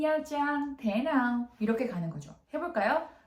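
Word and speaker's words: Nha Trang: 우리나라 분들한테는 나트랑이라고 많이 알려져 있어요. 근데 원래 이것의 발음이 야장이죠. 그래서 타임풀 위안입니다.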